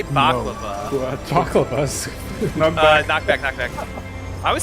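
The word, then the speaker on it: Bhavacakra: Dude, is that how you pronounce that? I always say baklava. Baklava's. Knockback. I always say baklava. Baba Chakra. It's Baba Chakra.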